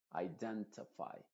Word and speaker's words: identify: que dicen los diccionarios diríamos identify iden no se dice ti sino t identify certify beautify testify test